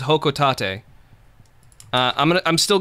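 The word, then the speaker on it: Hocotate: ] irish welcome to hoka tate let's see whole i'm looking for a whole hoco tate all right well the japanese pronunciation is hokutate uh i'm gonna i'm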